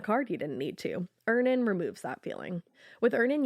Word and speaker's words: Earnin: Earnin removes that feeling.